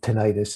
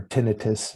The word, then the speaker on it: tinnitus: I have a little bit of tinnitus. It's usually referred to, or tinnitus is another pronunciation.